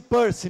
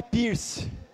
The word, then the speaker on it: Peirce: Pronuncia-se Peirce, não é Pierce.